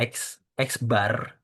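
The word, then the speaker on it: x̄: Ini adalah X bar. Kalau kalian lihat di sini X-nya itu ada garis di atasnya. Garis horizontal di atasnya itu adalah bar. Cara bacanya adalah bar. Berarti X bar gitu.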